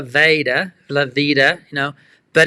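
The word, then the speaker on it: La Veta: L A ta a we say levita as if it's an i it probably should be pronounced laa Lavita you know but it's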